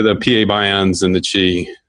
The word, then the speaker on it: qi: but it's it's it's spelled qi pronounced Chi it's it's a it's